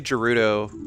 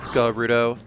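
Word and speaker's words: Gerudo: fight another guto thief I say juto I like I like mix up juto and guto a lot but it's actually pronounced gudo again wait for her to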